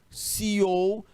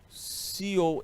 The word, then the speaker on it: CEO: em marca texto preto, esse termo CEO, ele escreve assim, viu? Cell, né? O cell ou CEO, se a gente for pronunciar a partir do inglês.